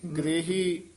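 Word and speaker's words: ਗ੍ਰਹੀ: अंतर साच लेव लागी ग्रही ग्रही इस तरह उच्चारण करना ग्रही कहांगे तो रारे नू ग्रे रारे नू ला लग जाएगी गग्गा रारे से हरी हाहे बिहारी ग्रही अंतर ग्रही अंतर साच लेव लागी नानक सतगुर सेवह सेवट भागी।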